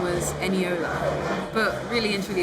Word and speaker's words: Eniola: school, I always told people my name was Eniola. But really and truly it's pronounced Eniola, but people just couldn't pronounce it properly. There was a whole period of time where people called me Enilola, and that just wasn't it.